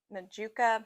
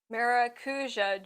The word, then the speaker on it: Maracuja: It's the Majuka. I always pronounce that wrong. Maracuja Juicy Glow.